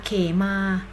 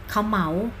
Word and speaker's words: เขมา: คำ ที่ 1 Stay ขอ ขาย มอ ม้า สระ อา ก็ อ่าน ว่า เขมา หมาย ถึง ความ สบาย ใจ ความ ค้น ภัย มี อีก คำ นะ คะ อ่าน ว่า เขา เหมา เขา เหมา หมาย ถึง